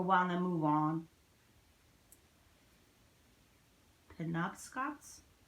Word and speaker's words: Penobscots: Penobscots? Is that how they pronounced it when you read it? Penobscots? Pinocchio's, I think. No, there's a T at the end.